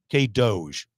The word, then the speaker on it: K-DOGE: So, I'm going to bring that same energy to Kansas with my K Doge initiative. K Doge, I'm getting a nod over there. Yes, that's how you pronounce it.